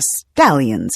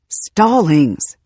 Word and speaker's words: Stallings: Originally they were Stallings, but nobody could pronounce it right. When they first joined their little country church, the preacher welcomed the newcomers every Sunday with a different mispronunciation. "And we're glad to have the Stallions here with us today," the preacher announced during service. "Stallings! Stallings!" John protested.